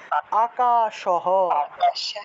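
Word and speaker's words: আকাশঃ: নাম আর তারপরে দেখুন এই বিসর্গটা লাইনের একদম শেষে আছে তাহলে এই বিসর্গের উচ্চারণটা হবে পূর্ণরূপে হ এই হটাকে পূর্ণ উচ্চারণ করতে হবে তাহলে এই হ এর উচ্চারণটা হবে কি পূর্ণরূপে তাহলে আকাশহ আকাশহ আকাশহ তাহলে মম নামাহ আকাশহ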